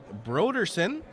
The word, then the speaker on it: Broderson: We've got some corrections on the pronunciation at third. It is Eric Broderson and Skip Dennis Watts.